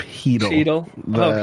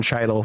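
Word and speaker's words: Chytil: Oh, and then also I don't like to correct pronunciation, but it is Philip Hedel. Hedel. The C is silent.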